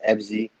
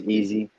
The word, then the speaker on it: EVSY: A lot of people think it's pronounced EVSY, but it's not. It's definitely pronounced easy.